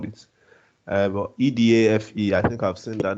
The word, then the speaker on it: Edafe: Permit that pronunciation if that's not the way you call it. But EDAFE, I think I've seen that name before.